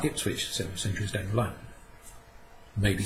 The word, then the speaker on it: Ipswich: that's called this hip is quick it which eventually becomes pronounced Ipswich so messengers don't learn